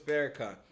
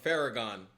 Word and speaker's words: Farrakhan: She just called the minister, the honorable minister Louisis Farrakhan. She just called him Fareragon.